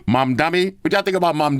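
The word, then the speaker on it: Mamdani: What y'all think about Mandani? over here. Hold. Let me say it correctly. Mom dummy.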